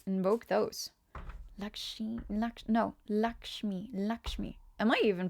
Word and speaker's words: Lakshmi: It's laximi. Yes. Invoke those. Lakshi. Lak. No. Lakshmi. Lakshmi. Am I even pronouncing it like a little bit correctly?